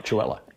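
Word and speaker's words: Chewelah: Chewella.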